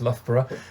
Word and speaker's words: Loughborough: that's the other thing people aren't sure how to pronounce lothbra um here in the